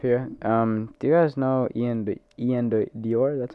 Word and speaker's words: Ian Dior: Do you guys know Ian Dior?